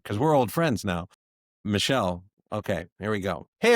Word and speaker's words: Michel: Is it pronounced Michael or Michelle? Michelle. All right, let's try this again. See, this is exactly what I talked about because we're old friends now. Michelle.